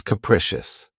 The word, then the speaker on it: capricious: of my favorites, is capricious. This word has 3 syllables, and the stress is on the second syllable. Keep in mind that the first syllable has that schwa sound. K-precious. Capricious.